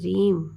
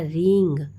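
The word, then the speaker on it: ह्रीं: ठीक है, तो मैं जिस तरीके से बता रही हूँ कि रीम REEM या रींग REENG, दो प्रोनाउंसिएशन है, इसको आप लीजिए और बैठ जाइए।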